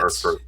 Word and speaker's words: Hearthstone: And the fireplace thing is a hearth, and it's spelled the same way. So Hearthstone.